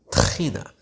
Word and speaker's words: tahina: this is tahini or as we call it tahina I don't know why Americans find it so difficult to pronounce the you just need to just act like someone's choking you to death maybe like to hire and then you can say it anyway I digress here